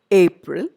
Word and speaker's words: April: in all these words you notice that i'm giving importance or stress to the first syllable april i don't say april in the labor in april singer i don't say singer i say famous and not famous so in these three words the first syllable is stressed in the next set